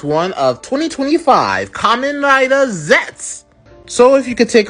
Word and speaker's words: Zeztz: And his very name gives you that clue right off the bat because his common rider name is spelled zez ztz zets.